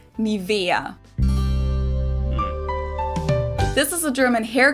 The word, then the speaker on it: NIVEA: English native speakers usually say NIVEA, NIVEA. In German, we say NIVEA, NIVEA. So the emphasis is on the E, NIVEA.